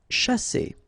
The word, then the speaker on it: chasser: Okay, so remember that when you put this C and H together, you get the sound sh, sha, and then here you've got a double S between the two vowels, so the S is really strong.